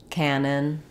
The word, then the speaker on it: canon: is a large gun they both have the same pronunciation which has first syllable stress and letter A says the a vowel so you can remember that by pairing it with a word like that Canon or had a